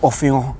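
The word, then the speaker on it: Orphéon: And this was on my Orpheon review by Diptyque, or Orpheon, if we're going to say it in French pronunciation.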